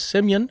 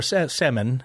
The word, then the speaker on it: Semyon: Semyon or Semen. Yes. Yeah. It is actually spelled like, we're not gonna, for the Americans, it's actually spelled like semen, but it's, I think Semyon or something like that.